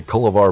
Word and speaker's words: Kullivar: right man uh culvar i i say colavar but you can pronounce it any way you want to it's a fictitious name so fair enough